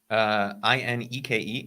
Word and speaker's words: Ineke: And is it Anique? Was that is that how you would say her name? Ineke, Inky.